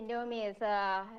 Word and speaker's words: Indomie: Yeah, actually, Indomie is really our memorable noodles.